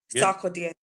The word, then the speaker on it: Sarkodie: Sarkodie.